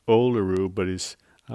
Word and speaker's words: Olerud: a really thick it's coming from Mr John Olay rude oh they of course his name is pronounced oluru but he's I like to call him Olay